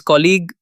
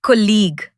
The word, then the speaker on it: colleague: His colleague Wait, is that pronounced colleague or colleague? Good catch. That's a tricky one. It's pronounced colleague.